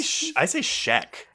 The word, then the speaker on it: Schaech: I think it's... I say Schaech. Schaech. Yeah, that's it is right. Schaech. Yeah, it is Schaech.